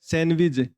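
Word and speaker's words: sandwich: ये क्या होता है सैंडविच जो डी होता है वो क्या होता है साइलेंट होता है है जैसे यह वर्ड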